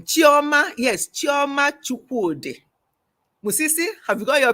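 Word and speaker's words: Chukwudi: It's a Chioma Chukwude. Not Chukunde. Chuku, C-H-U-K-W-U-D-I, no N-D-I.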